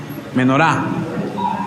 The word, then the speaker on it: Menorá: Hay una dentro de todas esas fiestas que se llama, y perdónenme porque soy terrible para los acentos, tiene el acento en la A. ¿Menorá o menora? Menorá.